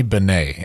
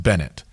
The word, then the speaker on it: Bennett: And he said, and my last pick is Ronnie Benet. And I said, Bobby, there's no way that name is not pronounced Bennett.